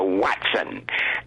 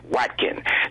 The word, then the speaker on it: Watkin: And Trey Jenkins say his name is Watkin. John constantly called him Watson. He said, well, he's Watson now. Craig told him, he said, my name is not Watson, it's Watkin.